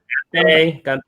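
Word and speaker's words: 干杯: Ganbei? Ganbei.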